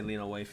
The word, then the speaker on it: Lena Waithe: That's Lena Waithe, right? I would say Lena Waithe, yes.